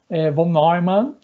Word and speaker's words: von Neumann: Vocês vão encontrar muitas pessoas, né, falando von Neumann. Von Neumann, né, é a forma correta de pronunciar o nome holandês deste pesquisador.